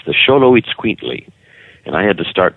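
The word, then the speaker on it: Xoloitzcuintli: have to say it you have to sound like Ricardo montabon when you say it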